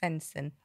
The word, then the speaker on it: Sveinsson: all about this go on how do we pronounce your surnames fenson oh i did get it right there he